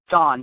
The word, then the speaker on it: Don: so uh maybe we'll is it Dan or Don I think I got your name wrong Don Donald yeah don don sorry about that so